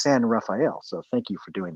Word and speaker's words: San Rafael: And by the way, you said San Rafael earlier when we were off camera, and I really appreciate you doing the proper pronunciation. Here in the Bay Area, we call it San Rafael. Just, I don't know if because we're lazy or whatever like that, but it really is San Rafael.